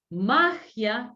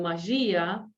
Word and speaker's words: magia: Por ejemplo, policía, alergia, magia y no magía, alergia y no alergía, ¿sí? Policía y no policia.